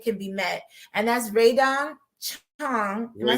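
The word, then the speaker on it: Rae Dawn Chong: And that's Raydon Chong.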